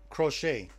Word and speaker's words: crochet: So it's spelled crotchet, but it's pronounced crochet.